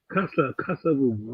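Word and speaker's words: Kasa-Vubu: Bien sûr, Papa Kassavoubou. Il faut bien prononcer là, c'est Papa Kassavoubou.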